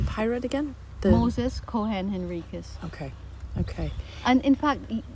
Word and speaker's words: Henriques: We were always pronounced my last name Henrikus. When I came here, the Portuguese pronounce and it's their name. It's Henrik. Henrik. Henrik.